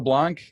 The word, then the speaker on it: Blank: website is the Blanc at BL A&K it's spelled blank and pronounced funny so let's don't that's